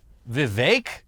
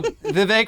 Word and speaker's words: Vivek: in notoriety was definitely Vivek is that how he says it I guess so it says it rhymes with cake uh the skinny guy